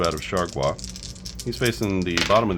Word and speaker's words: Chargois: And we can go with Chargois. I looked up his name, and that's how you say it. Chargois.